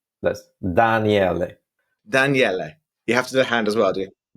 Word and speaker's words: Daniele: Here's a little Italian course for everybody. I'm Italian. It's Daniele. Guess the trick to pronounce it right? That's Daniele.